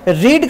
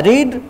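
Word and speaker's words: read: अब जैसे देखिए ना रीड का क्या होता है रीड रेड रेड देखिए स्पेलिंग सेम है लेकिन बोलने का ढंग है वो बदल गया है यह रीड है यह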